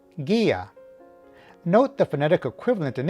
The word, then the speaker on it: guía: And 2, the sound of this syllable needs to be separate from the next syllable, which in this case is only one letter, a. So, if we put this all together, the pronunciation would be guía.